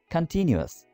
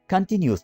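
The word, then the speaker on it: continuous: दोस्तों, बहुत ज़्यादा लोग पाकिस्तान में इसको कंटिन्यूअस बोलते हैं, जो कि गलत प्रोनाउंस किया जाता है। आपने इसको करेक्टली कैसे प्रोनाउंस करना है? कंटिन्यूअस। स्पेलिंग भी देखिए, कंटिन्यूअस। Okay, कंटिन्यूअस। न्यूज़ तो यहाँ पर है ही नहीं। ओके, सो कंटिन्यूअस बोला करें इसको।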